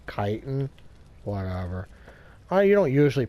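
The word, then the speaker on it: chitin: that ier okay so the chitten or uh kiten you might say chitten kiten I don't know how you pronounce it it says CH and to me I says but I guess it's supposed to be pronounced kiten whatever I you don't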